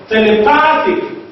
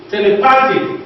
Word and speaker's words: telepathic: Telepathic, telepathic, the second from the last syllable is what? Is pa, and sympathetic, the second from the last syllable is te.